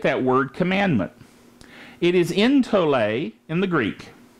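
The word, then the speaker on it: ἐντολή: let's look at that word commandment it is in to lay in the Greek it's transliterated en tol e e in t OU le with a little accent mark over the top and it's pronounced in to lay it means injunction that is an authoritative prescription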